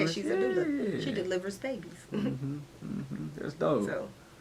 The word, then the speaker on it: doula: She's a doula.